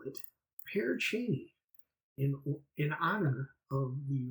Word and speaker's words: Pere Cheney: This episode is about the ghost town of Paracheny as it's pronounced. Uh, it's a former settlement located in the heart of Crawford County, but I'm going to call it Pear Cheney in in honor of the recently deceased and